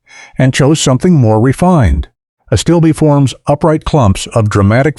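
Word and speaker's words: Astilbe: Plant seven, a stillby, pronounced a stillbe.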